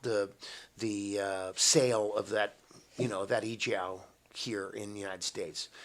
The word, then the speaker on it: EO: sale of that that e-jow here in the United States as just our effort to sort of turn the tide? You say the leading importers in the world, and it's pronounced e-jow? E-jow.